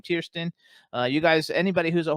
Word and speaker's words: Tiersten: We have Jonathan Tierston coming in. I think that's how we pronounce his last name, Tiersten.